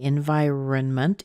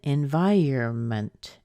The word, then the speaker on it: environment: at different times but it is not usually environnement it's more often environment environment so what about if